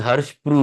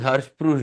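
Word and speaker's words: Hirschsprung: he used to pass the stools it is Harsh Pro this is Harsh Pro spelling is h i r s h p r u n g but it is pronunciation is Pro so it is har Pro disase par it is a paralytic ilas generally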